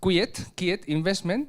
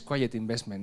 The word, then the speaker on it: Quiet Investment: Esto se ha pronunciado así en inglés, que es Quiet Investment, ¿no? Lo pronuncias Quiet Investment, ¿no? Como en inglés.